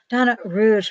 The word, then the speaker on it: Donna Rouge: Oh, and I want to do one more question, because Donna Rouge, by the way, folks, is how you say her name.